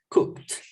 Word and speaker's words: cooked: We will use the pronunciation with T or with D. What do you think? T. With T, exactly, because we want to express that the food is cooked.